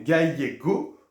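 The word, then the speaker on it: gallego: hein donc c'est attention c'est pas un L c'est le double l on pense bien à la PAA hein donc c'est la E donc ce sont les gayego ou gayega Aragon à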